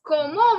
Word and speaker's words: comment: Now see, this como word, no, we have already seen up. So please, please, please don't make the mistake of saying comment. It is not comment. It is como.